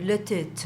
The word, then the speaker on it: Les Têtes: Então é letete. Letete, gente. Eu achei bom você tem fazer biquinho. É, se você quer fazer a pronúncia francesa, deve. Letit. Letit. É porque é francês.